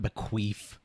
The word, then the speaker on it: bequeath: Bequeath, not bequeath.